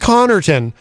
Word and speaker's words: Connarton: So it's pronounced Connarton, but when I was